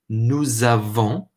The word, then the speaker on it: nous avons: What that means is we actually pronounce the S, but instead of the S making a sound like an S in English, it actually makes more of a z sound, more of a z or a z sound.